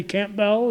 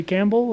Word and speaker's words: Campbell: and some people say Campbell and some people can say Campbell and I think the Camp Bells they pronounce it with the p sound and Campbell family's still